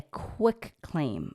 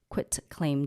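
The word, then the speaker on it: quitclaim: a quit claim deed not a quick claim everybody always Mis um pronounce that it's quit quit T quit claim deed this form can be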